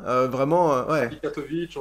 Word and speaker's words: Catovic: On dit Katovic, on dit Katovic, ça dépend qui le prononce, ouais.